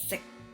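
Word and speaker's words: 食: Just sick in a mid-low tone, sick.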